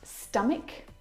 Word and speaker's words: stomach: a C Sound and there are quite a few English words that actually have this same pronunciation of the CH combination words like stomach and ache the CH in all of these words is pronounced like a C Sound my brother is an